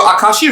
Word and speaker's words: Akashic: actually ends with a c i would have pronounced it as aka shikh but my friends who are in the know